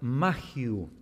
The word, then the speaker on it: Mayhew: Bueno, John MacArthur y Richard Mayhew me corrigieron que así es la pronunciación de ese apellido.